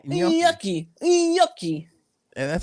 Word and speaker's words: gnocchi: I forgot how she said it, but then my mother, the Italian one, was like, "Oh no, you say it like this, gnocchi."